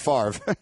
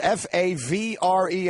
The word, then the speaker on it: Favre: up the name Brett Favre oh yeah I mean how you can have a word that has spelled FA VRE and pronounce it Favre it still doesn't make sense that's Ben Stiller exactly